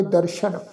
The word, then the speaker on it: दर्शन: दर्शन ससे दे पैर च बिंदी लगा के पाठ उच्चारण करांगे दर्शन।